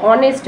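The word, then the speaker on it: honest: এইচ ও থাকে কিন্তু আমরা শুধু ও দিয়ে উচ্চারণটা করি অনেস্ট বলি এইচ টার উচ্চারণ করি না তো সেক্ষেত্রে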